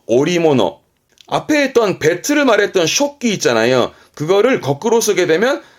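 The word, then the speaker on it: 織機: 그 배틀을 말하는 단어인데 발음은 쇼끼, 쇼끼 씁니다만 음으로는 조직 하나 정도면 충분하다고 보여집니다.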